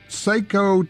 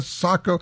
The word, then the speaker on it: Sako: re Bennett and Carrie cook from Beretta Taco Seiko Tia Sako oh here's a question for you how many